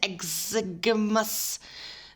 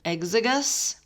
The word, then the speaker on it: exiguus: But yes, a wild strain of yeast called Saccharomyces exiguus, that's not how you say it, exiguus, is used to make sourdough bread, as opposed to S.